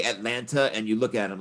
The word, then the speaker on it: Atlanta: She's from Atlanta. That's how you pronounce it, by the way. Atlanta, N-U-H on the end. I'm from Atlanta. If you say Atlanta, that's an automatic sign you're not from Atlanta.